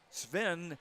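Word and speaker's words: Sveen: Sven, spelled with 2 E's, pronounced with 1.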